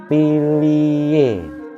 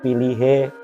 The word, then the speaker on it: pilihe: Berlaku juga kata yang lain, tembung atau kata pilih, pilio, pilie, pilien, pilih, piling. H samar semuanya. Jadi bukan piliho, pilihe, pilihen, pilihi, atau pilihing.